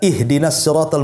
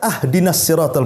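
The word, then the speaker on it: اهدنا: salah saja pengucapan batal contoh mpamanya kita baca ihdiniratal mustaqim kan begitu kita baca ahdiniratal mustaqim harusnya di kasrah kita fathah pula tuh harusnya ihdiniratal kita katakan ahdinat itu kan beda artinya kalau ihdina Ya Allah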